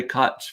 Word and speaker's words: Koch: it means cook uh but todd and nina say koch for some reason but i'm fine with it rhymes with scotch koch i like